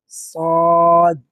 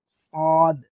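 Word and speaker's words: صاد: সা সিন পাতলা scene scene scene scene এটা সদ নাম কি? সদ। সদ আর সিনকে আমরা সদ সিন উচ্চারণের সময় খেয়াল করব যাতে একই না হয়ে যায়। সিনটা একটু পাতলা। সদটা একটু মোটা।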